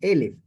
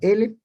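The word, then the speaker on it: אֶלֶף: Pero el 1000 es la misma letra, pero se pronuncia Elef. Es decir, que cuando nosotros pronunciamos esa letra en hebreo, Elef, estamos hablando de 1000.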